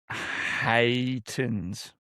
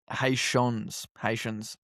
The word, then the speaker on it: Haitians: Haitans.